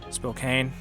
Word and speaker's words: Spokane: that i will say our capital is spokane spokane that is how you say it and we control